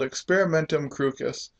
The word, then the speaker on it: experimentum crucis: Brentano also believed in a term called experimentum crucis, and that is actually how it was said in Latin. Darn it, it's not a soft C. There are no soft C's in Latin.